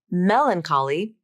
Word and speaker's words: melancholy: things to notice here first notice how the CH spelling makes the k sound not the CH sound and second notice how the syllable stress changes between the two words in Melancholy the primary stress is on the first syllable but in melancholic the primary stress shifts to the third syllable which is the syllable before the IC suffix I'll say each